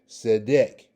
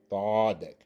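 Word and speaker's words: צֶדֶק: And it's going to be pronounced Zedek, Zedek, Zedek. Notice the S sound that's going on with the, like the E, okay? And you can also pronounce it Thardik, Thardik, Thardik, Thardik. That's the proper way, Thardik, Okay, so that is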